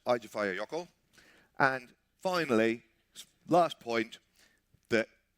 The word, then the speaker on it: Eyjafjallajökull: Fifthly, it's pronounced Eyjafjallajökull.